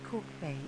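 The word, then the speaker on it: Kalk Bay: is a real good tour of k-town chat calc bay pronounced cork bay is a fishing village on the coast of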